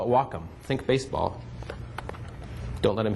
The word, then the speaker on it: Wacom: the Wacom tablet w a m some people pronounce it waycom we were told by the people at the manufacturing plant that they call it Wacom think baseball don't let him hit welome there